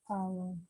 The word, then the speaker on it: hour: hour. 네, 근데 hour인데 hour가 발음이 모음으로 시작하니까 an hour late.